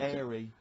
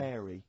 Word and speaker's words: hairy: Sorry, I noticed both of you there dropped the H, or the H, or however it's I pronounced. had to, 'cause So it- airy, airy obviously kids, mean yeah. hairy.